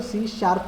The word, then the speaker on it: C#: सो सी शार्प को pronounce आपको सी शार्प ही करना है, उसको सी हैश प्रोनाउंस नहीं करना है।